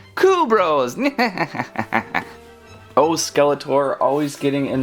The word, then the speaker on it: Kubros: tell us I'm thinking kubros it's with a K if it was with a Q it would be Q Bros now that that's done